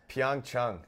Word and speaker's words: Pyeongchang: How do you say it? Pyeongchang. Pyeongchang. Yeah.